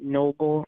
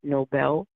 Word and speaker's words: Nobel: actually from Norway and they pronounce it Noble not Nobel um I believe I